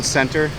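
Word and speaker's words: Centre: Mall this is Saigon Center it's spelled wrong s-c-e-n-t-r-e but it is said with center and this one not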